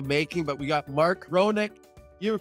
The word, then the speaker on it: Ronick: my business which is ironic chronic is the way to pronounce it well fair enough but